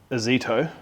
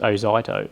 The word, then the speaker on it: Ozito: Because I would take, like, say, a Zito. Yeah. How do you tell me off for saying it again? Well, it's actually pronounced Ozito, but yeah.